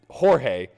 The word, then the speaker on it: Jorge: a g God damn it you got me j o r g e Jorge you don't get to get upset whenever somebody says Jorge and you want it to be pronounced George chill am I wrong that's George